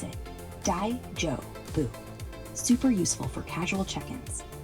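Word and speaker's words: 大丈夫: Pronounce it daijobu.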